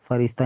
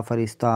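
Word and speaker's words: فرشتہ: की रह जाती है जिस को सिर्फ लिखा जाए तलफ्फुज यानी उच्चारण में शामिल ना किया जाए यानी इसको उच्चारण में शामिल ना किया जाए जैसे रास्ता फरिश्ता यानी अलिफ की आवाज इसमें आएगी है कि नहीं आएगी अलिफ आएगी यानी उच्चारण में यह शामिल नहीं होगी रास्ता फरिश्ता अफसाना दर्जा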